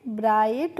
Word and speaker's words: bright: तो BRI को हम पढ़ेंगे ब्राई, और GHT का प्रोनाउंसिएशन होता है फ्रेंड्स आइट करके।